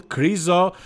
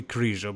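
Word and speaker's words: Križo: favorite Michel crucial and I know you guys like to call him Michael crizo but that's not how you pronounce his name there is no such name as Michael in Slovakia I'm here from Eastern Europe as well his name is Michal and his last name is not chriso it's actually krisha but never mind you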